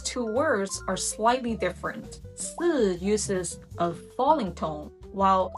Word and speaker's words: 四: In Mandarin Chinese, the word for number 4 is written as 四 and pronounced 四. And if you say that out loud, 四, it sounds remarkably similar to the word for death, which is written as 死 and pronounced 死. The main difference is in something called tones.